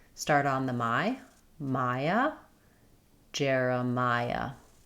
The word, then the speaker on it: Jeremiah: Jeremiah. Letters J E R say the air sound. J uh like in Jerry or in the word air.